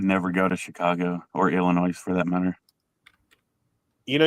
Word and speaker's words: Illinois: go to Chicago or Illinois for that matter you know you don't pronounce the s in Illinois this is true I